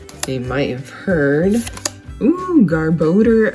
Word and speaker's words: Garbodor: all these guys they might have heard ooh garbodor v so we didn't get a hit we did get a hit out of evolving skies yes it's a garbod or a garbador however you would like to pronounce it but it is a hit i